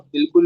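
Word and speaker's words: Ball: ये जो बॉल है ना, इसको कैसे प्रोनाउंस करोगे? बाल, बाल। ऑटो कैसे प्रोनाउंस होगा?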